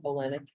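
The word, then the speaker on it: Olenick: Olenek, let me spell that for you. Sure. O-H. O-L-E, O-L. Olenek, O-L-E-N-I-C-K. Ah, Just like it sounds.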